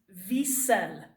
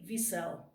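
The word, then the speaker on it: Wiesel: author's name his name is Ellie then you pronounce this V said very strange having name and leave yourself male ok it's actually short for eleazar eleazar eleazar but he goes by Ellie okay Ellie V cell is his name he was 15 years old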